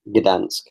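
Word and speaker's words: Gdańsk: Gdansk.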